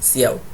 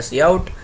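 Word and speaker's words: cout: display हो ठीक है ध्यान रखना सी प्स प्स के अंदर प्रिंट नहीं यूज होता क्या यूज होता है सी आउट ठीक है और इसीलिए आपको मैंने यह प्रोनंसिएशन भी नीचे दिया है क्योंकि स्टार्टिंग में कभी कभी कंफ्यूजन हो जाती है वेल मैंने दिया नहीं है क्या एक सेकंड गु हा देखो ये रहा जैसे कि य हमने लिखा सी आउट और य हमने लिखा सी इन वैसे आप लोग इसको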